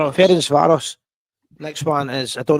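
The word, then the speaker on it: Ferencváros: How do you pronounce that one? Ference Varos. Ference Varos.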